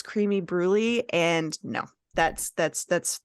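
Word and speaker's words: crème brûlée: it without a bunch of uh crem brulee all over it um excuse me it's creamy bruy and no that's that's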